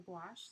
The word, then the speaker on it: gouache: can't pronounce orange yeah gouache is another funny one like wash wow squash gosh yeah